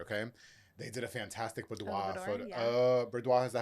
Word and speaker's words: boudoir: They did a fantastic boudoir photo.